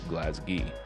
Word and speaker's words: Glasgow: city of glasgow or if you live in glasgow pronounced glasgee on the local news the mayor of